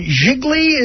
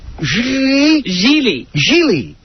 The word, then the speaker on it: Gigli: Even if it's not, they should spell it for me, Laura. So it's Lara Croft and Jiggly is the other one? Gigli.